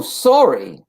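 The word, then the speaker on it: Saori: really s-a-o-r-i yeah oh sorry sorry i'm not sorry like sorry like i'm sorry that's how you pronounce it that's like she sounds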